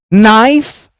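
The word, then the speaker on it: knife: nights होते थे चलो नाइफ नॉक नाउ ये नो नाइफ नॉक नो यह जो k है ना यहां पर सब साइलेंट है क्योंकि इसके ठीक बाद n आ रहा है अब हम साइलेंट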